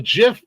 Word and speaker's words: GIF: places in the world some places in the world a g is pronounced like a j so I I mean